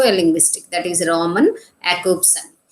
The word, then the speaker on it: Jakobson: linguistic, that is Roman Jakobson. That is spelled with J, but we have to pronounce it as Jakobson.